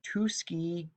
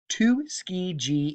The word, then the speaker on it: Tuskegee: the i'm going to do my best to pronounce this the tuskey tuskegee institute tuskegee institute oh there we go tuskegee